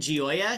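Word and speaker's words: Gioia: who are AI Skeptics I recommend um Ted gooya his last name is spelled g i o i a and I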